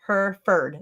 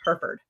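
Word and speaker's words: Hereford: Yeah, I say herford. That's the way most people say it. Shamro Farm. That's the way most people say it here in Texas. It's herford. Herford.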